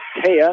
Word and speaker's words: Taya: Taya, not Tia.